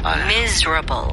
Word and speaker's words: miserable: 네, 이거는 스펠링이 MIS로 시작하지만 Z 발음으로 해주셔야 돼요. miserable.